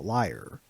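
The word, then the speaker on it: lyre: player of the liar this instrument is pronounced just like a liar not quite perfect david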